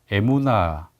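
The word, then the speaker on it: אמונה: 이 믿음 이라는 말은 히브리어로 애무나 이렇게 발음 하는데요 이에 문화 라는 이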